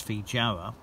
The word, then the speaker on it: feijoa: guavas as well as feedjara or feehowa I think it's a soft Jay actually like the Spanish pronunciation although they are called